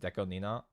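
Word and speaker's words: DECO*27: Do you know Deco 27 is pronounced Deco Nina?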